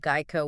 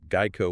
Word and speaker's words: Geico: And yes, make sure you're pronouncing that Geico with a hard G, right? Geico with a hard G.